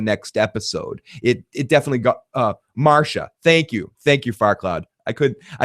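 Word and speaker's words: Marcia: I'm like Marsha, but it's spelled weird. It's not. It's oh no, it's spelled right. But it's not spelled with the SH. It's spelled with CIA.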